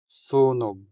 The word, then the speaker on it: sunog: Conflagration or fire in Hiligaynon is sunog. sunog sunog The stress falls on the first syllable making o in this syllable longer than the o in the final syllable. So you say sunog.